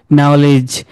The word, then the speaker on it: knowledge: মনে করেন এই যে এটা দেখেন, KNOWLEDG, এখানে দুইটা প্রনাউন্স সাইলেন্ট থাকবে। তাহলে আমরা কি বলি এটাকে? যে ক্যান নলেজ বলি, আমরা কি বলি? নলেজ। তাহলে নলেজে কেটাও সাইলেন্ট কিন্তু ডিটাও সাইলেন্ট। ওকে, এইভাবে অনেকগুলো ওয়ার্ড আছে, এখানে শুনেন কেমনে এগুলোকে বলে যায়।